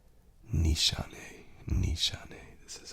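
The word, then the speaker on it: Nishane: um content creator and he pronounced it Nissan and I saw in the comments someone said you're wrong buddy and so I went and I found how the founder of the company said it and he pronounces it Nishan Nishan.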